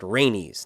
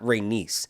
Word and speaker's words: Rhaenys: uh by the way it her name is pronounced rhaenys not reynis i think they're saying reynish because of their